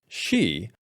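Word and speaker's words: Sidhe: up for this video it appears that it is connected to Old Irish folklore or mythology and is pronounced she that is a supernatural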